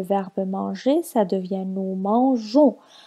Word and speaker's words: mangeons: Par exemple, le verbe manger, ça devient nous mangeons. On a ajouté la lettre E avant le ONS pour ne pas la prononcer mangon.